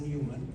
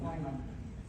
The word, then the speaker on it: Neumann: So I'm going to give the word to the spokesperson from civil society, Vanessa Newman. Neumann. No. It's pronounced Neumann.